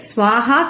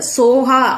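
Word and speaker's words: ஸோஹா: கடைசியா இருக்கக்கூடிய வார்த்தை ஸ்வாஹா கிடையாது, சோஹா அப்படின்னு தான் ப்ரொனவுன்ஸ் பண்ணணும்.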